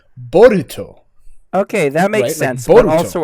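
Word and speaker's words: Boruto: in the last chapter it was bolt that was his name and like but if you say it in japanese it's borito okay that makes sense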